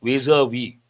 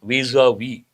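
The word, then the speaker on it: vis-à-vis: the suspensions legality visa visa v how do you pronounce this visa v second here s is silent that you have to know an important expression you have to focus on Pakistan.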